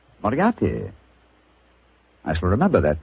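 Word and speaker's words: Moriarty: Moriati. Moriati.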